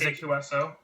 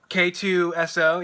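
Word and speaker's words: K-2SO: I mean, how do you say Alan Tudyk's droid's name? Like, is it H2SO. K2SO? Yeah. Yeah. Yeah.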